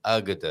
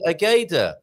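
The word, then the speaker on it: Águeda: That's an interesting word to pronounce, isn't it? Agada. Agda, also with an accent on the A. That's why you pronounce Agda. Otherwise, Agda. it would be Ageda.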